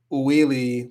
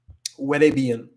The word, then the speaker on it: huele: even pronounce this, but it's not like huele or huili, but it's huele, huele bien.